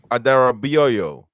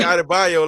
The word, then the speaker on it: Adarabioyo: Obviously, we're going to talk about Tosin Adarabioyo. That's how you say his name. That's how you say his real name. You guys say Adebayo like he is Emmanuel Adebayo.